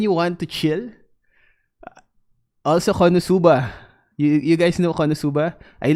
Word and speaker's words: Konosuba: Oh, Konos ba? Is that how it's pronounced? Konos ba? Doro. Yeah, I know Doro. Konosuba. No, it's not Konos. Because I hear it on the anime. They say Konosuba.